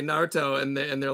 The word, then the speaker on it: Naruto: because we had she said how do i pronounce it i was like yeah naruto and has anybody experienced where some of the